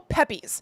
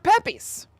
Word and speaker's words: Pepys: From Mr. Pepys. Or Pepys. It's P-E-P-Y-S. Pepys? Pepys. I am Samuel Pepys. That's like the way Kramer would pronounce that name. You know, like he says Ramirez instead of Ramirez.